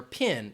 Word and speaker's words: PIN: And if somebody's talking about your PIN, it is an acronym. You pronounce it as one word.